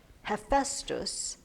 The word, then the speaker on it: Hephaestus: The next god I hear pronounced multiple ways. Hephaestus, Hephaestus, Hephaestus. Frankly, I don't care how we pronounce it. I'm going to call him Hephaestus because that's how I always have heard it pronounced.